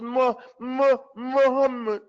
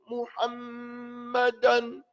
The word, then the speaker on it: Muhammad: He says Muhammad. Doesn't say Muhammadan. Doesn't say Muhammad. He says Muhammad. Muhammad. That's how he says it.